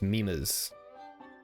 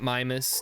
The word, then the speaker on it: Mimas: it up it's pronounced mimas not mimus not mimas mimas like those uh funny pictures that your grandma posts mimas so here we